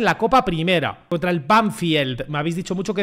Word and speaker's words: Banfield: Me lo habéis dicho algunos. Se pronuncia Banfield. Otros no me habéis dicho Banfield. Yo qué sé. Banfield. Se dice Banfield.